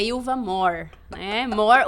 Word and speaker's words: Mohr: O meu more é m O H, mas a pronúncia é a mesma do inglês, que more significa mais. More. More. More. Mas é more, é origem alemã.